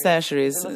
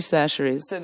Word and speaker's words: Chachere's: C'est Tony Chachere's. Ça s'écrit Chacher, mais on dit Chachere's.